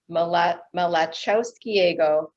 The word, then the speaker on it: Malachowskiego: and visit the building mala malachowskiego 12. did i pronounce that right no it's a tough one it's it the l is on what so it's ma okay i'm not even going to try that yeah it took